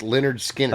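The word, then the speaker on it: Lynyrd Skynyrd: ain't the one what records it off of pronounced leonard skinner oh i know that record it's the first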